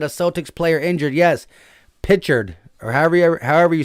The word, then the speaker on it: Pritchard: Pritchard, or however you say his name, is injured. It's Pritchard.